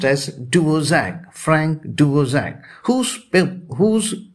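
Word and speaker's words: Dvořák: is spelled as o r dvorak k but pronounced as duo zack she is the 80 and odd year old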